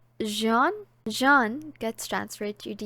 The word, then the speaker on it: Jean: Is it Jean or Jean? Because apparently it sounds like John. So I'm thinking it's pronounced Jean, Jean gets transferred to